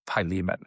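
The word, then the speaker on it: Philemon: Now we are in this weird letter to a guy named Pyan. It may be written Silomon, but the way you pronounce it is Pyan.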